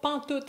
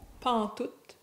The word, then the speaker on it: pantoute: So, pantoute is the contraction of pas en tout, pantoute, pantoute, with the last T being pronounced.